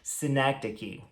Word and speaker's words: synecdoche: A gente pronuncia essa palavra assim, synecdoche.